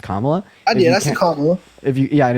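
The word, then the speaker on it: Kamala: don't first of all please pronounce her name right her name her name is pronounced comma that's if you yeah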